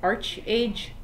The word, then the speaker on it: ArcheAge: I'll turn out the arc age my boyfriend pronounces it arch age don't kill me potato